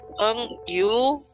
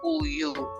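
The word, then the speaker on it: 우유: Ini tulisannya memang enggu, enggiu gitu ya. Engyu, engyu. Engu, engyu gitu ya. Jadi engyu. Tapi karena kita sudah tahu aturan ini, maka ini dibacanya itu hanya huruf vokalnya saja, yaitu uyu.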